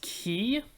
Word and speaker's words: quay: and it's quay oh it's pronounced key that doesn't look like it should be key at all 6b gently shove green